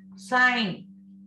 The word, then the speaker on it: sign: Sign, G is silent.